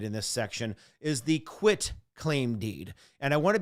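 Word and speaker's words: quitclaim: i say it because some people say it wrong and i've even seen a question or two on occasion that try to trick you up trip you up this is not a quick it is not q-u-i-c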